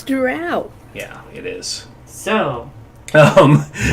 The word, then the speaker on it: drow: But I will stab anybody who tries to say it's dro and not drow because that is just fucking wrong. It's Drow.